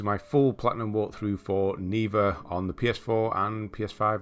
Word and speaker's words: Neva: I think it's pronounced Neva. That's how the main character says it in the uh in the game.